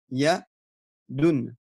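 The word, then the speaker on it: يدٌ: Et en fait, avec la prononciation d'un noun à la fin. Donc, regardez, ça donnera, pour ici, notre exemple, on a le mot yadoun.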